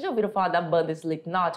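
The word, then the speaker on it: Slipknot: a banda vocês já ouviram falar da banda slep not é uma banda de rock não é slep not esse k não tem pronúncia que nem um verbo saber conhecer inglês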